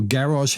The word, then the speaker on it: garage: low popularity score because garish house or garage house depending on how you say it is a start